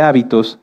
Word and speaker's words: hábito: muchas definiciones de hecho si cambiamos el acento de la palabra hábito lleva acento en la a se refiere a esto a nuestras costumbres y si lo cambiamos hacia el final es habitó que viene de habitar fíjense que como en